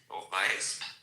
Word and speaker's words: Weesp: No, let me tell you that there is a little place, a little outside of Amsterdam, called I think, correct my pronunciation here, Weesp.